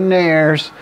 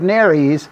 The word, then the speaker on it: nares: nairs no no no don't say nairs that's just reminiscent of a hair removal product right you can go ahead and wear short shorts but we have nary's not nails that's a common american mispronunciation of the term so the two nares